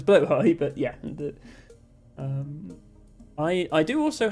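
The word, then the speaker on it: Blåhaj: Well, people say Blahaj because they don't know how to pronounce Blowhigh, but yeah.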